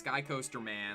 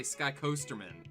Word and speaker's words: Skycoasterman: stream, because, you know, everybody says it's Skycoasterman, like it's 2 words, but you say it like I'm Jewish, like Goldman. You say Skycoasterman, and everybody gets a kick out of that.